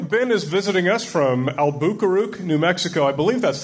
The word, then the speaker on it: Albuquerque: that so Ben Ben is visiting us from albaro New Mexico I believe that's the correct pronunciation albaro is correct it's thank you it's actually sort